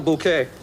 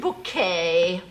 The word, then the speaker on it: Bucket: Oh, bucket. Oh, yes. We have a bucket pronounced bouquet, dear.